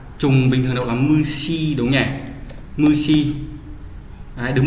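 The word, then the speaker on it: 虫: Trùng và sỉ đọc là trùng bình thường đọc là mushi đúng nhỉ?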